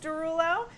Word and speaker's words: Derulo: no blowing it because it is pronounced Derulo but it spells des our wait play the